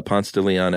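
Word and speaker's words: Ponce de Leon: uh you know at at Pont uh Pont to Leon Avenue new here in Atlanta everyone that doesn't live in Atlanta probably laughs that we pronounce it that way instead of p uh but on PS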